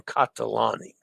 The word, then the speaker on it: Catalani: Reminder that the Italian syllables generally follow a consonant, vowel, consonant, vowel, consonant, vowel format.